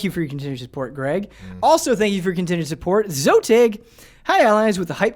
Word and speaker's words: XOTIG: That's XOTIG. Zotig. Zotig, X-O-T-I-G. Yep.